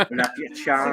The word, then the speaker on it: Appalachian: Appalachian. Okay. Favorite Appalachian. You just remember apple at ya. If you don't say it right, I'm gonna throw an apple at ya.